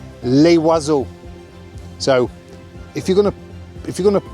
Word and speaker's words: les: So it's les, but you don't pronounce the s unless the word is succeeded by a consonant.